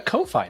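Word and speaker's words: Ko-fi: it yeah we've got a co-fi now coffee coffee it's not like i like coffee coffee i feel like more clear because if you say coffee people are going to think it's spelled coffee you know yeah i got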